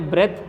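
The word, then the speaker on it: breath: अब एक और चीज़ समझा देता हूँ, देखो यहाँ पर इसको मैंने ब्रेथ प्रोनाउंस किया और इसको ब्रीद प्रोनाउंस किया।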